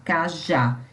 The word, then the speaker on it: cajá: Então, por exemplo, a palavra cajá. Eu tenho a sílaba tônica, o já, cajá.